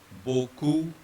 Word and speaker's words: beaucoup: Right, so ignore the X first of all, and then all these spellings have the same sound, which is O. They all are to be pronounced as O. H will remain silent.